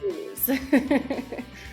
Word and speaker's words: youse: Uh, It's pronounced um, use.